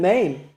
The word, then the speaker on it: Mem: There's no really dispute anywhere in the world that the letter Mem is pronounced M.